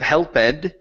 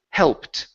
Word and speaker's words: helped: Instead of helped, the word is helped with a T. Helped. Okay, give me an English T instead of a Portuguese T. We don't want to say helped with a CH. It's helped. Helped.